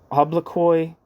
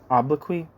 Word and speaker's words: obloquy: with and carried it Forward generations of mockery obloy what the how do you say that obloquy oqu oqu meaning insult abuse of front offense